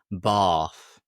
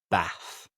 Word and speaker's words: Bath: And just pronunciation here because in the south of England, they would say Bath. Bath like a long R. However, in the north of England, we'd say Bath.